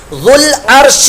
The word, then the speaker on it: ذو العرش: ہوگا۔ ذو العرش المجید، ذو العرش المجید، یہاں ذال کی جگہ ذل نہیں کرنا، ذو العرش، یہ زا کی آواز ہے، ذال کی آواز، ذو العرش المجید، فعال